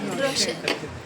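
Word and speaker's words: Rochelle: तो फिर मुझे बाद में इसने समझाया इट्स लाइक मिशेल को जैसे प्रोनाउंस करते हैं वैसे ही रोशल।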